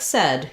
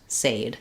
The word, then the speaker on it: said: So it's understandable why a word like said, you might think it's pronounced said.